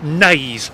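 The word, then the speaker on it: Naze: Okay, I've just been in a shop and apparently it's pronounced nays.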